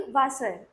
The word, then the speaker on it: Wasser: डब्लू, अब डब्लू जहाँ पे भी आता है उसका प्रोनाउंसिएशन वी वाला रहता है, और वी का प्रोनाउंसिएशन एफ वाला। डब्लू का वी का एफ। ठीक है, तो जैसे कि वासर, ठीक है, तो उसमें वी वाला साउंड आ रहा है ना, स्टार्टिंग में उसकी स्पेलिंग होती है WASSER, लेकिन उसको हम लोग क्या पढ़ेंगे? वासर।